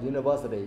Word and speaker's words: university: So a university, you see that we see like kind of a vowel here that is U, but actually the pronunciation is U, not un or something like that.